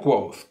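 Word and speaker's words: Kvothe: Me llamo Quoth, que se pronuncia Quoth.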